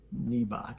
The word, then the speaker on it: Nebach: Nebach. Is that spelled like Reebok but with an N? Correct. Knee back.